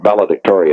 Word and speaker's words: valedictory: when you call it valedictory address i think i think the accented syllable is dic valedictory valedictory that must be